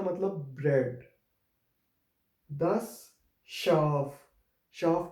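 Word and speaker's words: Schaf: फिर हमारे पास एस से हा का कॉम्बिनेशन आ रहा है, जिसको हम श की आवाज़ से प्रोनाउंस करेंगे। और ये शाफ भी हमारे पास एक एस से हा से स्टार्ट हो रहा है, तो ये श की आवाज़ प्रोड्यूस करेगा।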